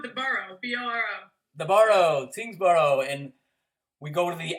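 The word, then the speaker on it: Tyngsborough: I joked in the queue off air how sometimes Tingsboro is spelled differently, and the formal Tingsboro has UGH at the end. What's up with UG? It's obviously silent.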